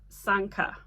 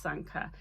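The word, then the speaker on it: Sanquhar: to pronounce it properly it is spelled completely different to how it's pronounced it's pronounced Sanka but it's pronounced it's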